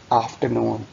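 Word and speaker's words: afternoon: इसमें भी आपने आर प्रोनाउंस नहीं करना, गुड आफ्टरनून, सपहर का सलाम, गुड आफ्टरनून।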